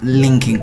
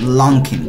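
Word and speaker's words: Luckin: is the Lincoln coffee hey I'm not also pronounce this word as linking coffee I'm supposed to pronounce it as long Kim coffee I'm so sorry okay the funny part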